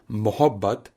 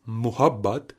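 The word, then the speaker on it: محبت: Funnily, Latadi tells a story that her pronunciation of Udu words eventually was considered so sacrosan that because she used to pronounce the word Mahabat as Muhabat all singers for decades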